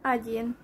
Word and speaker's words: один: 1 is egy in Hungarian, egy, and in Russian agyin.